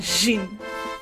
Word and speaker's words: Jin: It's not zin, I'm saying jin. Jin. That's at least from what it's been explained to me is kind of the closest to, you know, the Chinese pronunciation that his name's probably based on.